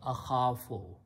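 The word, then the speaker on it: أخاف: is a weak letter so we change the sound of that into a sound of alif and we pronounce not ah afo but to make it easy on the tongue we pronounce ahafo so this word becomes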